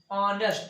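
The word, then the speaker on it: honest: ये एक साइलेंट है और इसका शुरुआत वावेल से होती है। ऑनेस्ट यानी वो यश का वहां तो इसमें खत्म है, यश को साइलेंट किया गया है, तो इसीलिए एन ऑनेस्ट मैन।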